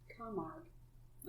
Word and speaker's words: Camargue: Horses of Camaragoo? Carmagoo? Carmagoo? Carmar. And here I was worried about Dee's last name. McMeekin. GUE. And it's spelled right because I just copied it from the newsletter. Yeah. Camargue. Okay. Camargue.